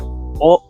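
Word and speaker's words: を: The particle o indicates direct objects, the kind of things that are directly involved in or affected by the event. Note that this particle is pronounced o.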